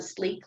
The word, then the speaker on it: Slique: If you want to look at anything weight management related, check out the Sleek line. It's SLIQUE is how you spell that line.